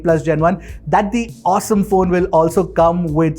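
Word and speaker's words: Osom: launch in india yes i'm talking about the awesome v1 or vault one yes it's pronounced as awesome it's spelled as ozone now this is going to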